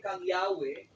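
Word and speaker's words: Yahweh: So kanya tandaan ko yahwe this is a descriptive name dili na siya proper name. So descriptive name siya sa Ginoo gitawag nila Y H. Ang pronunciation ana is Yahwe.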